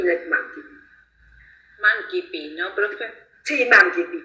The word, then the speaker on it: mancipi: Mancipi es en un latín clásico, donde la C se pronuncia como una K, como una Q.